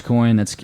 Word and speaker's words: Dogecoin: It's Dogecoin.